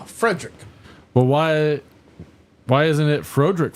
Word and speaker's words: Frederick: Do you also say Frodrick? No, Frederick.